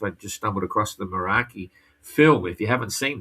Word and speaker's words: Meraki: Just get on YouTube and go Meraki, as you spell it as you say it, Meraki, and you'll see the film, which is fantastic.